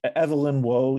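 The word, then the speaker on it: Evelyn Waugh: You mentioned, I always mispronounce this person's name. It's Evelyn Woe.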